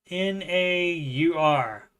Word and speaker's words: naur: That is kind of how they say it. Aussies. I don't know why you would change the no and then like add 2 other sounds to it. Instead of just no, it's naur.